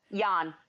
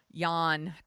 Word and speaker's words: Jan: i pronouncing that right Yan Yan when it's Dutch you have to do that and he was just